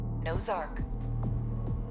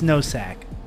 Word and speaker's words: Nosack: Call sign, Nozark. Nozark? Nuh-uh, it's Nosack. Say it right, computer.